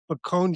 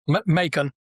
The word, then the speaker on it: Macon: They're out of Macomb, Georgia. Correct, Danny? Macon. Rhymes with Macon, bacon.